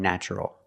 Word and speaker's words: natural: We pronounce the TU with the ch sound, like chicken, when there's no stress after the T. In these words, there's no stress after the T, so we pronounce it ch. Adventure, furniture, nature, and natural.